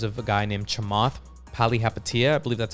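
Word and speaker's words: Palihapitiya: purchased this because of a guy named chamath pali hapatia i believe that's how you pronounce his last name i listen to his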